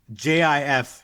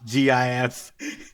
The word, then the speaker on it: GIF: And so like he came he came out and he's like it's pronounced Jif, not GIF.